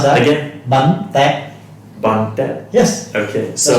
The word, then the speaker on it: Bánh tét: Bánh tét. long. Okay. Alright, can you try to pronounce that? Again? Bánh tét. Bun Tet.